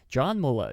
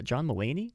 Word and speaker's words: John Mulaney: be a an animation live-action hybrid film starring john muller john mulaney is that how that's pronounced i believe um john mulaney and andy